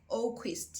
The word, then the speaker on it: Oquist: internet written by Lauren Oquist. I hope I did not mispronounce her surname. It's Lauren Oquist, yes.